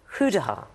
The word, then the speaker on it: goedendag: That can't be how they say it. No, that's the interpretation. We've done some work on it. Goedendag.